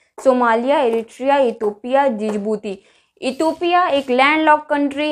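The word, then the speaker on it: Djibouti: Start शुरू होता है डी से, बट इसका प्रोनाउंसिएशन होता है जिबूती, नॉट डिजिबूती, जिबूती।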